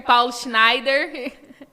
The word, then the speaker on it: Paulo Schneider: honra de receber diretamente dos Estados Unidos né Paulo Schneider pronunciei certo Paulo pronunciei certo Paulo Schneider corretamente então eu quero que você recebam com